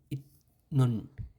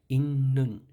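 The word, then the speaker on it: 있는: যেমন এখানে উচ্চারণ হওয়ার কথা ছিল ইত নুন, ইত নুন, কিন্তু এখানে উচ্চারণ হবে ইন্নুন, ইন্নুন, ইন্নুন হবে, ইতনুন না হয়ে ইন্নুন হবে।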